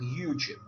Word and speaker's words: Uchit: По-русски это читается как Ючит.